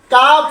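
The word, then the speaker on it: calf: টা উজ্জ্ব হয়ে যাবে এল এর উচ্চারণ হবে না এল এর উচ্চারণ বাতিল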